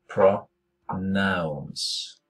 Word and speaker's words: pronounce: Det er jo en O, men det uttales pra. Pronounce. Ikke med O, det uttales ikke pronounce.